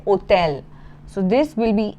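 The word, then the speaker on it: hôtel: So as I had mentioned earlier H is always silent in French. You never pronounce it. So in English we say hotel but in French you will say hotel.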